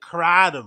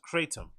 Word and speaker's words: kratom: And why did you pronounce it kratom when it's pronounced kratom?